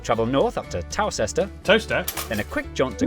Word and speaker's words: Towcester: Toaster. Is that really how it's pronounced?